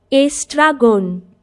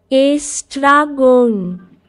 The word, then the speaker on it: Estragon: এটা বাংলায় হলো, ইংলিশে বাংলা দিয়েছে, উচ্চারণটা কি? Estragon. Estragon.